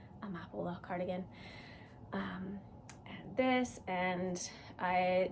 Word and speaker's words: Amapola: I always say Amaparo. I think that's what I said in my last one. Amapola cardigan.